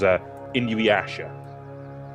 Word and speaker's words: Inuyasha: He mentioned how to pronounce this in the lobby. It was Inuyasha. I have no idea why he put the I there instead of a Y, instead of it being Yasha, because I'm pretty sure